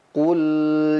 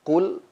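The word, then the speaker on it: قُلْ: Pada ayat yang pertama kita lihat qul ya qul. Nah, jangan sampai huruf lamnya memantul. Qul gitu. Ku kita monyongkan mulut kita.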